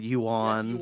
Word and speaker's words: yuan: I like I never say I never said it right, so I went and looked it up yesterday. Is the yuan whatever. It's like I knew how it's spelled, but I didn't know how to say it correctly.